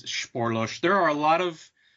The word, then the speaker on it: Spoorloos: blew it yeah I I looked it up on Google one day I'm like I have to know how to pronounce this damn movie and uh yeah so it's it's sporos there are a lot